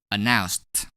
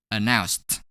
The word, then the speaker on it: announced: Thus, we're going to pronounce ed as t when we add ed to announce. Announced. Announced.